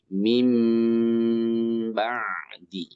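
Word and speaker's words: مِن بَعْدِ: ba'di jadi mim ya Min ba'di asalnya bunyi n kan Min ba'di nah dibacanya biasanya ada mim kecil di Quran tuh di atas nunnya ya Nah maka ini dibaca n-nya jadi m ditahan atau didengungkan juga Min ba'di menjadi mim ba'di mim badi Oke mim ba'di bukan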